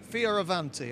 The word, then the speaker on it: Fioravanti: Leonardo, not Da Vinci, Fioravanti. I think I've pronounced it correctly.